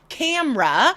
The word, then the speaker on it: camera: Camera. That Yep. E in the middle disappears. And here's one that's not often found on lists, but it is very common today.